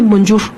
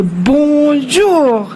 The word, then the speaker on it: bonjour: Pues sí, pero no se dice bonjour, no se dice así. Entonces, ahí me tienes a mi esposo repitiéndome. ¿Cómo se dice, Anita? ¿Cómo se dice? Se dice bonjour, bonjour, bonjour.